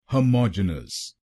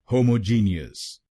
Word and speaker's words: homogenous: और आपको दूसरे शब्दांश पर यानी MOG पर जोर डालना है। होमोजेनस। होमोजेनस। गलत प्रोनाउंसिएशन में हम GEN अक्षरों पे जोर डालते हैं। होमोजीनियस। तो अब से इसको होमोजीनियस नहीं बोलिए, इसको बोलिए होमोजेनस।